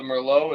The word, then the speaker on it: Merlot: a red blend of like cabs Cs and Mer tell her the split the split uh you got to pronounce it right the Mero is 44% the cab Fran is 31% and